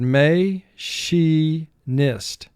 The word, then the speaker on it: machinist: plant and for spelling pronounced the word may she nist three syllables first syllable may two sounds um a she two sounds sh e nist four sounds may she nist mark the word may she nist here the i in the middle syllable is representing a sound it normally does not so we put an